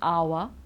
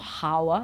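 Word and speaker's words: hour: here are some examples when we don't pronounce the H because you know that we do usually okay well you know this one it's our okay it's not how it's our then we've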